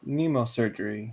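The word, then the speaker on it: mnemosurgery: So we discover Chrome Dome's skills of Nemo surgery. That's pronounced without the M. The M is silent.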